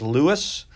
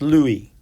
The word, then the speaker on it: Louis: so his first name a lot of americans would read that as lewis but in france it's pronounced louis so louis de bruy